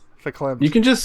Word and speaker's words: verklempt: Spelt with a V, but according to Google, pronounced with an F. Verklempt.